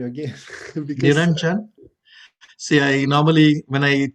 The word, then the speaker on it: Niranjan: came to US first, I introduce myself as Niranjan. J is a J, as a Niranjan. So when you add it together, it pronounces very close.